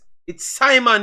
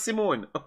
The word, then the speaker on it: Simon: It's Simon, not Simone.